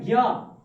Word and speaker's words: ज्ञ: थोड़ा सा और आगे बढ़ते हैं, ज्ञ। ज्ञ का जो उच्चारण है वो आपका ग और या बहुत जगह अंग और या के भी उच्चारण से ये बना हुआ है।